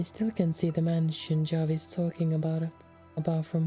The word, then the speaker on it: Javi: should should be because if his full name is like javier so javi would be like harvey but i'm not changing